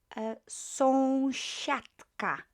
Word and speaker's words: sąsiadka: S-I-A is pronounced sha. Sha. So sąsiadka. Sąsiadka. And because we've got unvoiced consonant k there, the d will sound more like t. Sąsiadka. It will match this unvoiced consonant there.